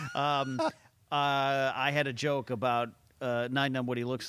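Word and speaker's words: Nien Nunb: I'm saying Nine Numb is the official canon. Nine I Numb, actually okay. said Neen Numb my entire Yeah.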